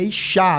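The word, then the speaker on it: אישה: Mulher se pronuncia Ishá.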